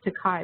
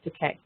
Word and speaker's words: Takei: But if anybody is familiar with Facebook, it's almost impossible to avoid George Takei, which I always thought was pronounced Takai, but it's not, apparently. It's pronounced Takei.